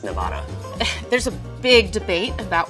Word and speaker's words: Nevada: It's a Spanish word, probably, which is supposedly supposed to be pronounced Nevada.